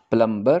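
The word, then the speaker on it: plumber: बनाते हैं बताएं हैं ए प्लंबर को ब्राइट यह प्लंबर इंग्लिश में प्लंबर नहीं कहते इसका साइलेंट है गुर्दों में इसको लेते हैं तो बैक के साथ लिखते हैं तो आप उसको प्लंबर कह देते हैं इट इज नॉट प्लंबर kids प्लंबर प्लंबर लेकिन जब आप नंबर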